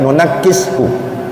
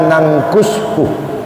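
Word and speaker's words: نُنَكِّسْهُ: Kalau Imam Hamzah dan Imam Asim berpendapat bahwasanya nunakkishu itu dibaca pakai tasydid, nunakkishu. Kalau ulama yang lain membacanya bukan nunakkishu, tapi dibaca nangkushu.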